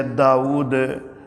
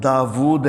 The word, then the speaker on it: داود: کے ساتھ لکھا ہے، اور ہمارے عرف عام کے اندر بھی جو ہے داؤد عام طور پر لوگ بولتے ہیں، لیکن صحیح تلفظ جو ہے وہ داود ہے، واو کے اوپر حمزہ کی بجائے واو کے اوپر الٹی پیش کے ساتھ۔ قرآن حکیم میں داود